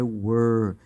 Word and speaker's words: were: A pronúncia aqui, ó, com o H é where e sem o H é were.